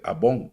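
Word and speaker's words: עָווֹן: En hebreo se dice abón, así como esos productos que usted compraba. Avon en inglés, ¿va? Así se pronuncia.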